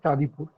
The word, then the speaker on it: Chandipur: This Red Crabs of Chandipur is a story where a particular Chandipur, actually, it is pronounced as Chandipur.